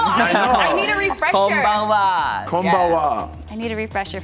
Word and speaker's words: konbanwa: Konbawa. Oh, wow. You know plenty. I know. You don't need lesson. No, I know. need a refresher. Konbanwa.